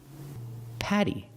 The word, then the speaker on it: Patty: last one is Patty Patty pronunciation use the short ah sound like black cat this sound is more open ah you put the tongue down in the front behind your bottom teeth ah Patty the tongue